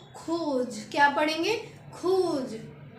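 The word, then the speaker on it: rouge: यू जी E same as इट इज इसकी pronounce भी same है बोलना भी इसको सेम है तो इसको पढ़ेंगे रेड को खोज क्या पढ़ेंगे खोज तो रेड को बोलेंगे खोज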